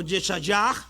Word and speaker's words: Yeshayah: Luego vamos a ir a el profeta Isaías, o Yeshayah, como se pronunciaría en hebreo.